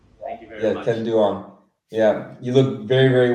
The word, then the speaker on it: Ken Duong: Ken Duong. Am I pronouncing that right? Yes, Ken Duong. Thank you very much. Ken Duong.